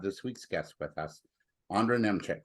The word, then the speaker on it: Ondra Nemcik: I'm your host, David Cohen, and I'm really pleased to have this week's guest with us, Ondra Nemcik, right? I'm pronouncing that right?